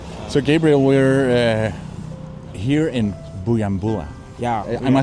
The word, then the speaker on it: Bujumbura: So Gabriel, we're here in Bujumbura. Yeah. Am I saying it right? Yeah. Yeah, I've been really trying to learn because it's difficult. No, but Bujumbura is good.